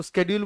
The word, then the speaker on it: schedule: Demand schedule मैंने क्या बोला था आपको, को schedule बुलाओ या schedule बुलाओ एक ही बात है, दोनों भी pronunciations correct है।